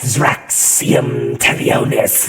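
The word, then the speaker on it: Xraxium'telonie: the worse yes yes say it like that zum tonus I'm sure when you encounter him if you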